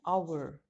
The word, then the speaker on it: hour: it will be an hour see the sound listen to the sound very carefully the edge that the beginning of our is silent our and unclean